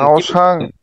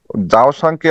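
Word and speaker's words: 早上: পারি ওই সকালটাকে জাওসাং এখানে চাও বলে না এটা ওরা উচ্চারণ করে আসলে যাও উচ্চারণ করে বাট আপনি যদি চাও বলেন বুঝে নিবে বাট নেমালি ওটা হচ্ছে যাও বলে হ্যাঁ জাওসাং যাও সাং ঠিক আছে নরমালি এইটা এইটাকে বলে যাও সাং ওই ইয়া দেখলাম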